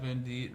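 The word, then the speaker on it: Venditte: Some of you guys know that uh Pat Van Deit, right? That's how you pronounce his last name.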